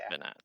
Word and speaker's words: Bernat: it's Bernat.